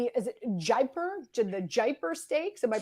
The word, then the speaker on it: Jaipur: Is it the Jaipur Stakes? Am I pronouncing that properly?